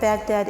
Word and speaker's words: Baghdad: Baghdad, pronounced with a ghain, stumbling from the back of the tongue and the top of the throat, like a gentle gurgle of water flowing from the Tigris, in silt-heavy swirls that find themselves lost